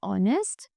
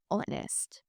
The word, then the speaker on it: honest: Right, so we put an before honest. The letter H is silent in the word honest.